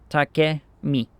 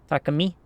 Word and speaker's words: Takemi: Last syllable includes the M, as that's how Japanese works. Me. Take-me. Takami?